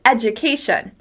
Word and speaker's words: education: Next, let's look at everyone's favorite word, education. Education. Education. As you can hear, I'm stressing the second to last syllable.